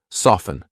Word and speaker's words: soften: silent T hustle or ft n silent T often soften I'm not saying often